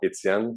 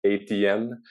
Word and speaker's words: Étienne: J'ai toujours l'intention à un moment donné de faire du contenu anglophone, mais les Anglais sont incapables de prononcer le prénom Étienne. Ça ressemble toujours à quelque chose comme ATN.